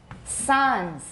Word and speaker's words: Sans: Sans. This is a French word, but we still say the S.